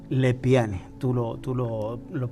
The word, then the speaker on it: Lepiani: pero mi apellido es el p n y lepiane tú lo tú lo pronuncia bien y es de procedencia italiana es